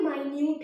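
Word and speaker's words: minute: इसमें ये sorry, spelling तो सेम है पर ये मिनट है और ये माइन्यूट है, माइन्यूट और मिनट। ठीक है, स्पेलिंग तो सेम है मगर प्रोनाउंसिएशन डिफरेंट है, मिनट और माइन्यूट।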